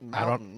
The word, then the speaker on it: mountains: You don't say the T. People in Mountains. Utah do not say certain Mountains. syllables. Yeah. Mountains. Everybody in Utah says mountains. Yeah. The T is more of like a pause.